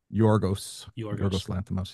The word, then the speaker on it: Yorgos Lanthimos: All right, we're going to move on to the fourth film on our list, Poor Things, directed by Yorgos Lanthimos. Am I pronouncing his name right? Yorgos Lanthimos, yeah.